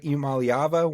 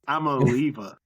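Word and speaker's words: Iamaleava: Imalyava. One of the two. UCLA. It's Amaleiva. I'mma leave you is what his last name is.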